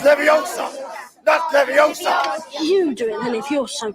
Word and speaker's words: Leviosa: say it wrong it's never young son that's leviosa you doing if you're so clever it's pretty